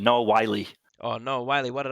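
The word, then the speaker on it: Wyle: That was your first bad pronunciation. Noah Wiley. Oh, Noah Wiley. What did I say? Yeah. Weil.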